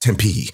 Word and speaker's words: Tempe: two instructions oh the third one was it's pronounced Tempe and that those were the three things that